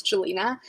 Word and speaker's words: Jelena: sort of tell people it's like angelina but without the and that's sort of the